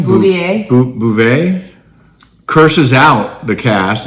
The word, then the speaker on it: Beauvais: Bouvet.